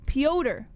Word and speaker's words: Petr: it pronounced piota jess pyoder that's how they pronounce it pyodaryan that's a good question why why is it just not peter because no and not